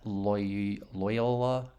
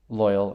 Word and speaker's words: Loial: Is that how do you say that? Loyola? I don't know. Loyal, yeah, okay.